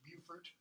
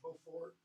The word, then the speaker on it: Beaufort: That's how it would be pronounced, Beaufort, not Beaufort.